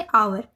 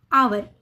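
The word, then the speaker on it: hour: एक वोवेल है तो एच का उच्चारण नहीं हुआ है तो उसको क्या बोलेंगे आवर आवर यानी घंटा ठीक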